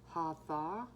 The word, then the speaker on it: Hathor: Beloved to ancient Egyptians for over 3,000 years, Hathor, or pronounced Hatha, T-H-A-W, interesting.